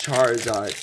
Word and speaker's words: Charizard: at the very end it's pronounced charizard i know what it is or no he's like